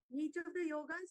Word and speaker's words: yog: and it spell as y o g a people pronounce it yoga that is wrong the yog should be the pronounce whatever you write